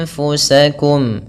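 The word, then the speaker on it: أنفسكم: Anfu, ini adalah nun sukun diikuti oleh fa, sama seperti nun sukun diikuti oleh sin, yang merupakan huruf ikhfa. Jadi cara membacanya adalah dengan mengaburkan bunyi nun ke arah huruf fa, anf. Namun, itu langsung menuju ke makhraj dari huruf fa, yaitu bibir kita, tempat gigi atas menyentuh bibir bawah, anfu.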